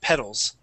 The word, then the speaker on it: petals: practice is pedals okay so instead of saying P pedals it is P with a short e sound petals ped ped okay yeah